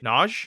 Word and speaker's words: Naj: How do you say John? But like it's Nhoj. Naj.